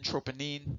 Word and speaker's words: troponin: heard of troponin or some people pronounce it troponin troponine many different ways of saying it in relation to